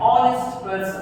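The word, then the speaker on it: honest: क्योंकि यहाँ पे ओ का साउंड आ रहा है, एज से शुरुआत है लेकिन एज क्या है? साइलेंट है।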